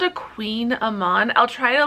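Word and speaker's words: kouign-amann: They're called a Queen Amman. I'll try to, like, that's how it's pronounced.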